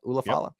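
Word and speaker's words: Ula Fala: Ulafala.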